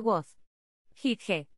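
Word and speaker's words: Wasgij: desde 1997 dato divertido wasi es una experta del rompecabezas hacia atrás y se pronuncia was here fuente npd año completo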